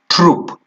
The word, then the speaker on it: troupe: Look at it and see its spelling. T-R-O-U-P-E, troop. Okay?